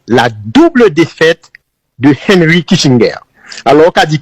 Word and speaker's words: Kissinger: il caractérisé par la double défaite de Henry Kisinger alors qu' dit Kissinger tout soit prononcé en américain mais sont allemand cri aux